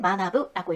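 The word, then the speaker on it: 学ぶ: 이 글자를 일본어로 읽을 때 오쿠리가나가 있을 때는 마나부라고 읽고 학생같이 다른 글자와 함께 쓰였을 때는 각세라고 해서 가쿠라고 읽힙니다. 자, 외우세요.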